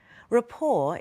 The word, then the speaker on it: rapport: floor the same building Rapport is an ability to communicate well with another person note that Rapport is pronounced with a silent T rapport and camaraderie is